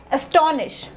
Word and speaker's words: astonish: No, this is wrong. You have to sound like, if you want to sound like a native English speaker, you have to give more importance to the primary syllables कि ज़्यादा हमने किस